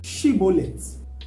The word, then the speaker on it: Shibboleth: And if he says no, he is then asked, say Shibboleth. And when he says Shibboleth, then they know he's an Ephraimite because he could not pronounce the she sound.